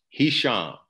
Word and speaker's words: Hisham: told many people so he shall you spell it h-i-s-h-a-m and I'll tell you a joke that lets people really remember his ham and I say that